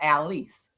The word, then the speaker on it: Alice: And it's actually pronounced Alice. Alice. Okay, Alice. See, correction. Now we know. So now we'll say Alice. Alice. Yeah. Alice. Al and Lise.